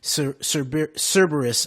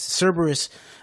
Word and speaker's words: Cerberus: They want Kavanaugh to legalize this use so Eric Prince, Cerberus, actually, that's how you say it. Cerberus, DynCorp, and other private militaries can take over our legit U.S.